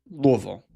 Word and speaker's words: Louisville: the people here that the way you say Louisville is you it seems like you just try to get it all out on one syllable. Louisville. You can't do two you can't do multiple syllables.